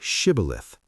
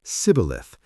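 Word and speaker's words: Shibboleth: When someone tried to cross, they asked, "Say Shibilith." The Ephromites could not pronounce the sh. They said cibilith.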